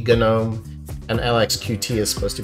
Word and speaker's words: GNOME: I have been told by my viewers that it's supposed to be a hard G Gnome, and LXQt is supposed to be LXQt.